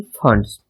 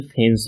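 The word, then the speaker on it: Fuentes: अच्छा, इसके राइटर हैं जीएल फंड्स, जीएल फैंस भी बोलते हैं ना, जीएल फंड्स भी बोलते हैं। तो जो भी आपको अच्छा लगे बोलिएगा, बस इसकी स्पेलिंग सही रहनी चाहिए।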